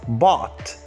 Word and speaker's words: bad: We say bad, it is pronounced as bot.